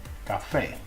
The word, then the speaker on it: café: Any other time, it's pronounced just like a K, like in café.